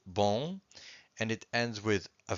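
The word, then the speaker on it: bom: have one word with one syllable, just one syllable, bon, and it ends with a vowel, an O in this case, and the M.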